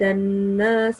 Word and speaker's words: النَّاسَ: Right here, we have noon mushaddad, and whenever pronouncing noon mushaddad, you have to make sure that you pause a little bit at the noon sound and make a nasal sound.